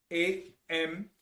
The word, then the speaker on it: Amenhotep: It's spelled A-M-E-N-H-O-T-E-P.